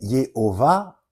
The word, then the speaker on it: Yehovah: C'est une récupération de Jovis Pater, donc qui est Jupiter, mais Yehovah, c'est 3 syllabes comme Jupiter.